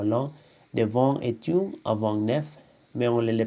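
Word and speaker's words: neuf: L'F se prononce toujours. 9. 9 livres. 9 amis. 9 amis. Hein. Le F se prononce V avec les mots en, homme.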